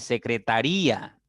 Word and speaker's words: secretaría: secretaria listo en cambio secretaría es una palabra de cinco sílabas a pesar de que se tengan las mismas letras no pero hay un iato Entonces se convierte en una palabra de cinco sílabas sin embargo secretaría al llevar la mayor intensidad a la siguiente sílaba entonces eh en ese